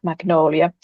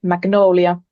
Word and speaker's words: Magnolia: I strongly believe that it is due to that the first R of the name magnolia is pronounced in such way that it resembles the Finnish vowel Ä. So when we say magnolia, it sounds like Ä for Finnish people mostly.